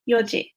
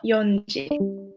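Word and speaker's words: 四時: So just a reminder that you don't say yonji, because there's two ways of saying 4, 7, and 9, but you say yoji, not yonji.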